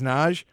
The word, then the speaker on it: Nagy: For those that don't know, it's spelled Matthias Nagy, but it's Matthias Naj.